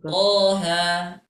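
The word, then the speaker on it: Taha: Surah Thaha ya kemudian ketika kita membaca thha thha Nah itu kita bisa membacanya sebanyak dua dua harakat Thaha nah gitu ya jadi jangan sampai kita baca thha nah tidak ya tapi kita bacanya dua harakat sa dua harakat saja seperti itu baik lanjut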